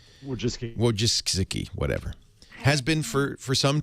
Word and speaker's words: Wojcicki: Larry Page is married to the very talented, how do you pronounce her last name? Ann Wojcicki. Wojcicki, whatever.